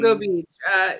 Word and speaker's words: Gilgo Beach: You guys put a lot of this, like, I don't know how you say it, Gilgo or Giljo Beach. It's fucking... Gilgo Beach.